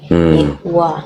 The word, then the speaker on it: Yehuwa: Iya, tetapi lebih kepada pelafalannya dari Yod He Vav He atau Yod He Waw He jadi Yehuwa. Yehuwa.